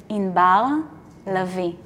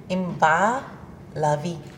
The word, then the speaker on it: Inbar Lavi: and I love it the way you would really pronounce my name is you don't even want to go there wait yes okay you're ready yes in Bao lovey in bah lovey you see you got